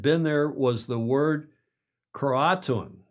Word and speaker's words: Croatoan: The only sign that anyone had been there was the word Croatoan. As in crouton. It's not to be confused with crouton, but all that that obviously did come to mind. Croatoan.